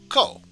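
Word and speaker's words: こ: for this lesson is ko and of course pronounce it as co and in this case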